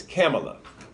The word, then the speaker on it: Kamala: whoa his camel oh I was corrected huh you know we were pronounced a different way but she told someone her name was camel o camel Ike Tamlyn our Pamela okay it's camel up so she will be